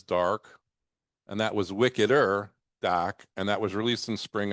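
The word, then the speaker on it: Dahka: Or but spelled D-A-H-K-A. H. Okay, Wicked so DACA. Wicked That's the DACA. way it's spelt the way it sounds. DACA.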